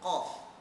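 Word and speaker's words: ق: Untuk contoh yang ketiga ya, saya akan menunjukkan bacaan huruf qaf. Ya, huruf qaf. Baik. Makhraj huruf qaf ialah pangkal daun lidah diangkat ke langit-langit lembut dan menekan pada anak tekak.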